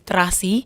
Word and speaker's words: Tracy: Indonesian pronunciation of Tracy is Trasi, and Trasi is a smelly fish.